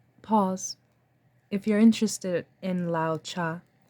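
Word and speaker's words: Lao Tse: if you're interested in Lao cha his name is spelled l-a-o -t-s-e Lao cha let us continue space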